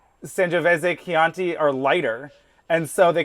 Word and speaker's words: Chianti: Because I did find out I don't like Chianti. Don't care for it. Oh my God, the way you said that. First of all, it sounded like candy. You got to say it wrong, like Hannibal Lecter. Chianti.